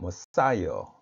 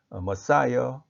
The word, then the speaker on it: Messiah: 영어 발음은 메시아가 아니고 머사이어입니다. 머사이어.